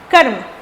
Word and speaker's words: कर्म: और इसका उच्चारण पहले वाले व्यंजन और दूसरे वाले व्यंजन के बीच में होता है। जैसे ध्यान से सुनना, क और उसके बाद म है, बीच में हम र का यूज करेंगे।